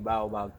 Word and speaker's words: baobab: Baobab. Let me pronounce it correctly.